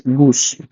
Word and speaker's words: GOOS: Some people, actually it is called GoOS, people pronounce it as Goose.